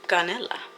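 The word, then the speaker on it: canela: Canella.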